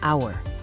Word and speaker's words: hour: Solving the case of the silent H in hour, the H is silent. The first sound you actually hear is hour, a vowel sound. Therefore, the conclusion is to use an, as in an hour.